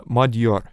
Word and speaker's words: Magyar: don't be judgmental here they call themselves uh madur which yeah like actually that's that's another interesting thing because it it is spelled as uh Magyar right but when they are saying I'm not sure they pronounce that a little bit like d so it is really